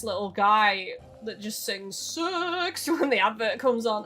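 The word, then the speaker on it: CeX: Because I've always pronounced it C-E-X. Like, I've literally spelled out the letters every time. And then finally, an advert came on telly and it was like, it goes, sex!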